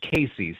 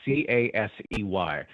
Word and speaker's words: Casey: It's pronounced Casey, c a s e y, but the the locals, for whatever reason, call it Casey, Illinois.